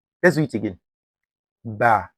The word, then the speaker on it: ب: Some people will say bo. No, bo is incorrect. The correct one is ba. Ba, you see, I spread my mouth. It is light. Can you hear the difference? The second pronunciation is much lighter and clearer, which is ba.